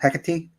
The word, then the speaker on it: Hecate: for that reason too i mean you're even pronouncing it correctly so that's cool you know hecate not everybody does what else can you tell